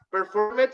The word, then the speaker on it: performed: Performed sería así como en español, pero la pronunciación es performed. Okay, con T, performed.